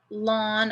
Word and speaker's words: ln: properties of natural logarithms so if i have lon of e lawn of e is equal to one so if